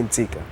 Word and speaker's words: Ntsika: but they don't say the whole name. They say Ntsika.